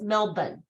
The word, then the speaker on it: Melbourne: guys pronounce it because lay told me it's Melbourne m-e-l-b-u-n you forget the o and the ER or whatever anybody know offhand but